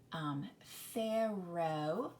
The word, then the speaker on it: Pharaoh: now in this word you have fair row the oh is long and the a that's an interesting letter combination there you don't see that often but the a is silent in the Oh says its name but the most important thing about Pharoah is that that pH says there are other words